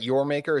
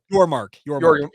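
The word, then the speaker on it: Yormark: Or excuse me, is it Brett Yormaker? Is that how you say it? Your mark. Your mark. Thank you. Yes, your mark.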